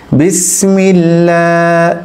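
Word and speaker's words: بسم الله: আমরা বলেছিলাম আমরা পড়েছি আল্লাহ শব্দের লামের পূর্বে যদি জের থাকে আল্লাহ শব্দের ওই লামকে বারিক করে পড়তে হবে পাতলা করে পড়তে হবে বিসমিল্লাহ বিসমিল্লাহ এরপর হায়ের হরকত যে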